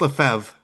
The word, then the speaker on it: Lefebvre: Although Lefebvre, or did I say that right? Tim Lefebvre. Yep, Tim Lefebvre. I think it's Yep. pronounced Lefebvre.